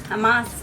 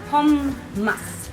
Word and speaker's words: hummus: So it's not hummus, it's not Hamas, it's not Homas, it's Home-mus.